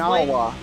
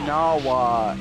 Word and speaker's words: Nahoa: Nawa, like a Hawaiian name. N-A-H-O-A. You know what I mean is with, you know, like how Japanese would pronounce it.